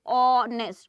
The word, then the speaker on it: honest: If you say honest, o sound, that is why here an honest man.